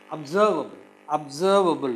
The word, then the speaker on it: observable: Observable. It is observe. The second syllable is stressed.